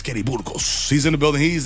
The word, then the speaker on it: Burgos: I'm Latino, so I'm going to say it correctly. I know a lot of people, Kenny Burgos. None of my teachers have said that, so I appreciate that. Kenny Burgers.